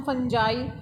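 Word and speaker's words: fungi: Such as सम फंजाई, कुछ फंजाई वगैरह होगी जिसमें फंगी बोलते हैं, कई इसे फंगी बोलते हैं. इट्स प्रोनाउंसिएशन साइंस में इतना मैटर नहीं करता.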